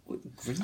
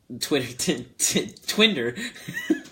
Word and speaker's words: Grindr: Wait a minute, we talked about getting on Twitter, like Twitter, Twinder. But I think you're pronouncing it wrong. It's called Grindr.